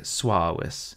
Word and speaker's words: suavis: And this sometimes holds for U following an S or a G, like suavis customarily has two syllables, not three.